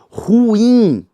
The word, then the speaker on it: ruim: Ruim. Ruim. Detalhe, viu? A pronúncia de ruim é ruim e não ruim.